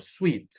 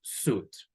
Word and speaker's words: suit: Esta palabra aquí también a veces la pronunciamos como sweet, pero en realidad sweet se escribe con E al final. Así, sweet. Si no tiene E, pronunciamos suit, like this one, which is U sound.